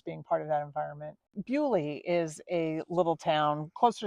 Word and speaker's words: Beaulieu: That pronunciation may be correct, Bewley. Yeah. But if you're looking for it on a map, it's a French word, Beaulieu. Yeah. Like Beau, Lieu.